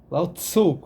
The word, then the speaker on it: Lao Tzu: É do Lao Tse. Lao Tzu, alguns pronunciam.